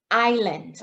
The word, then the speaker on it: island: Remember your pronunciation for these three words: Ireland, Iceland, island.